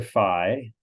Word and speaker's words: phi: in three-dimensional space so precisely fee or Phi for to pronounced both ways is the angle from